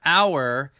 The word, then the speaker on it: hour: honor in the word hour the h is silent so the beginning sound of the word hour is a vowel sound hour begins with a